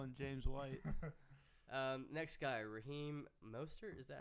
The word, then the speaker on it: Raheem Mostert: Next guy, Raheem Mostert.